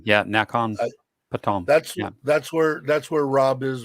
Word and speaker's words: Nakhon Pathom: Nakhon Pathom. Yeah, Nakhon Pathom.